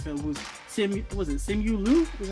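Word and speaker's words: Simu Liu: character though the film was sami was it simulu that's how you pronounce it yeah who played sean chi and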